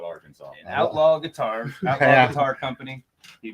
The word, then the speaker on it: Arkansas: yeah yeah thanks yeah that is true how how did they come up with arkansas when it's spelled arkansas french there's no sas that equals that's all i gotta say exactly and that's why they call it arkansas outlaw guitar avatar company